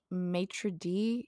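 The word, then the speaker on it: maître d': franchise we have Patrick who is the sassy matri d is ah how it's pronounced.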